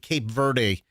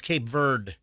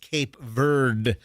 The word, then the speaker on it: Cape Verde: sports cer on Fox 13 kept calling it Cape Verde. No, it's Cape Verde. It's not Verde. It's not like green in in Spanish. It is pronounced Cape Verde, not Verde.